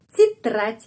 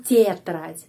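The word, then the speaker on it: тетрадь: Jadi titrat, bukan tetrat, tapi titrat I, ya, bunyinya I. Titrat.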